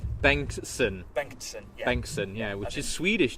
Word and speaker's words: Bengtsson: How do you pronounce it? So I get it right. Bengstsson.